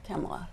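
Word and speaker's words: Kamala: next and and her position are you saying kamla or are you saying camela I say kamla because I don't see any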